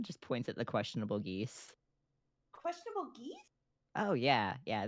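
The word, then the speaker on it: geas: they're actually a problem it's spelled g-e-a-s oh oh yeah don't mind his negative one intelligence it's one of those fun words that has like 16 pronunciations and we can take our pick yeah no he's thinking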